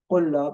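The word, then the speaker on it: قلّاب: In fact, what we do here, we are pronouncing twice D, twice L, and twice S. But we write just one of them.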